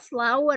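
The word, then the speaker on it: flour: flower on his jadi tepung itu bacanya flower ya sama kayak bunga ya selanjutnya penulis lirik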